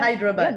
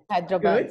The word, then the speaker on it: Hyderabad: Can you pronounce That's it? correct. You're right. Yeah, Hyderabad. that was good. Okay, Hyderabad.